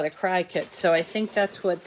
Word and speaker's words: Cricut: And you know, Cricut it sounds like a bug name, a cricket. So that was their way of telling people how to pronounce the name.